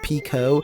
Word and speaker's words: Pekoe: details and tidbits about pico and every time i say her name it's just like one of those valley girls trying to say like pico de gallo so it's like pico i mentioned that she's